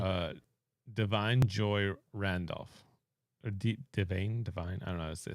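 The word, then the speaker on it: Da'Vine Joy Randolph: for go ahead uh Divine Joy Randolph or divain Divine I don't know they say his name theine for the holdover yeah Divine Joy Randolph Divine Joy Randolph okay said it right so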